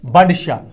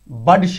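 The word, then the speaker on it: Budshah: श means great सुल्तान बड श इ नॉट बुड श कुछ से प्रोनाउंस करते हैं बुड श इट्स नॉट बुड श इट बड श शाही खान एसेंडेड ट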